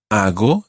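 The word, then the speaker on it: hago: see ago I go ago is spelled h a g o ago I go and your Spanish G sound is quite a soft G there Argo but ago ago muy bien so it's I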